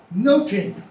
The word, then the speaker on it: nothing: In Shakespeare's day, it's pronounced noting. As in, I note something, okay?